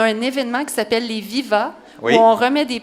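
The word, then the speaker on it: Vivats: Bien, je me disais, tout le monde ici, là, vous savez qu'on a un événement qui s'appelle les Viva, oui.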